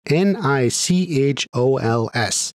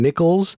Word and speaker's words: Nichols: even clarifies the spelling it's spelled exactly as we thought n i c h o l s Tory Nichols this should also close the door on it being nickels or having anything to do with Terry silver now